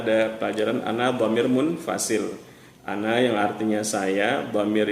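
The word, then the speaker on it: أنا: samawati Wal rohani fama Ana Minal musyrikin wamaa Ana Minal musyrikin jadi tidak baca wamaa Ana Minal musyrikin Kalau Anda dibaca panjang itu salah Jadi kalau anda yang artinya saya kita harus membacanya pendek Kemudian pada pelajaran selanjutnya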